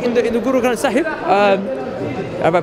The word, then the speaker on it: Guru Granth Sahib: And also, I believe, like in the Guru Granth Sahib, have I pronounced it right?